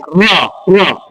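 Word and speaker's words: ر: Nah, tafhim ini berarti memakai rahang tebal. Rahang tebal itu berarti rahang kita terbuka. Ya, rahang terbuka. Cara membaca ro tafhim, rahangnya terbuka.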